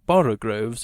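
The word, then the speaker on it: borogoves: rhyme with groves again the first o in borogroves is pronounced like the o in borrow i have heard people try to give it the sound of the o in worry such is human perversity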